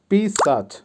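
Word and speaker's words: писать: এর বাংলা হবে পড়া বা রিড আবারো বলছি উচ্চারণ হবে চিত্তাচ পড়া বা রিড ভার্ব পিসাচ পিসাচ এর বাংলা হবে লেখা বা রাইট আবারো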